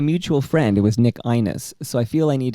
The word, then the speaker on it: Ainis: And it's Nick Ainis, by the way. Nick Ainis. I was told by a mutual friend it was Nick Ainis, so I feel I need to go back to David and tell him no.